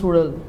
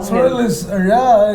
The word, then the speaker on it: Suzhal: And actually, Bramma was trying to teach people how to pronounce Sudal. So he was trying to, roll the tongue. Sudal is very, very unique, and not every language has got it, no.